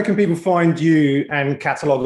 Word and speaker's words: Qatalog: people find you and catalogue online because it's not catalog spelled with a c right it's q a t a log dot and i'm on